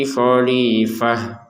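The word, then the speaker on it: خَلِيفَة: T-nya kita baca sebagai huruf ha. Kalau berhenti.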